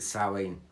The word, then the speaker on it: Samhain: a crazy week leading up to halloween to salleen as we call it um our sum it's spelt s-i-m-h-a-i-n samhain but we pronounce it sally that is coming up next weekend but i'll